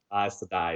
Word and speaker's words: Aes Sedai: Yeah, Aes Sedai is how they say it.